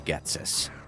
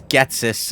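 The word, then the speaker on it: Ghetsis: like and they see Getus. And yes, it's Gatsus. I I realize that we've been mispronouncing that the whole time.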